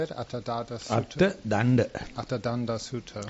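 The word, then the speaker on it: Attadaṇḍa Sutta: Attadanda Sutta. Attadanda Sutta.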